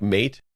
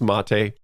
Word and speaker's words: MATE: case is mate even though it looks like mate it's pronounced mate and that's the name of the desktop environment